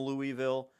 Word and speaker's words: Louisville: Much like how people call Louisville, Louisville. If you're from Louisville, they go Louisville. That's how you say it. You say Louisville.